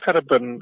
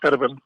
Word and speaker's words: Gerben: name please yeah yeah you pronounce it in the Dutch way as heran heran so long story my